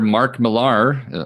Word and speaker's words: Mark Millar: Uh so next up on the uh dossier, um comic book writer Mark Mear, hopefully I'm pronouncing that correctly.